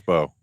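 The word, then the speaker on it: Mbow: Carter and Marcus Bo and Marcus B Arcus M is silent M is silent in the first name too arcus arcus B so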